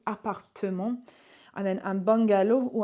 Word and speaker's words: appartement: Appartement. In English, we don't have this E here, but in French we do. Appartement.